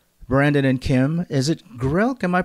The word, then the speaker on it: Grilc: Is it Grilc? Am I pronouncing that correctly? Grilc.